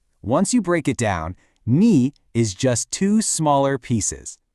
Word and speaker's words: 你: It's pronounced knee.